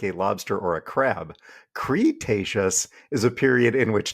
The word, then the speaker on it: Cretaceous: this episode's UMES Dwayne not once but twice pronounced Cretaceous as crustaceous we were laughing so hard we had to